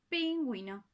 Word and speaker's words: pingüino: Entonces ya no es ji, ya no es gui, sino que ahora es wi, como por ejemplo, pingüino.